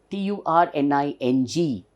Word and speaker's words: turning: Whereas the actual pronunciation is, there is no R and there is no G.